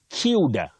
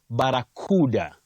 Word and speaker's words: barracuda: For that fish, you can say barracuda, cuda, or barracuda. Cuda is usually used in American English, but you say barracuda. That is in RP, received pronunciation.